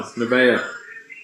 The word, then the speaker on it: Nevaeh: I just got one, Nevaeh. Okay. I could never say her name right till they told me her name was Heaven spelled backwards.